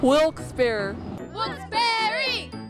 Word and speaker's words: Wilkes-Barre: well as you see it's two of whisper wilkes bear downtown actually the only hyphenated city in america